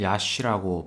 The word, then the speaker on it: Jas: 이름을 야쉬라고 발음해야 되죠?